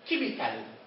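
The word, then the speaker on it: chemical: السي مع الاتش نفوسهم ك في البرونسيشن. اكزامبل كيميكال. كيميكال ليش ما بقولش كيميكال؟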